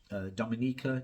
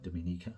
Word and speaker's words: Dominica: the time West Indian Dominica Dominica depending on how you say it where you are in the world Jamaican Barbados communities were